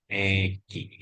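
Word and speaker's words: 駅: Baik, ini cara bacanya adalah Egi ya.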